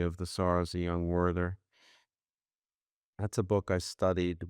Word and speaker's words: Werther: Werther, I guess is the proper German pronunciation.